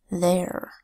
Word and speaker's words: their: First word is there. There is spelled with a TH, making its voice sound th. Then EI making a long A sound, A, and R that says er. Th, A, er.